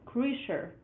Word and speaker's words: Kreischer: It's pronounced Kreischer. Oh, Kreischer again. Crusher?